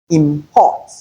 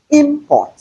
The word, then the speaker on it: import: For instance, if we have the word import, the stress is on the second syllable. That's why we have pot, and we use that one as a verb. But if we want to change that import to a noun, we have import. So it is through the break in syllables that we can know where to place the stress, where to lay emphasis on in order to have the meaning desired.